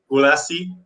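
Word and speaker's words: Gulacy: it's like i don't i don't know the exact pronunciation in english because i always say it in hungarian but paul gulacci like g-u-l-a-c-y gulasi do you know him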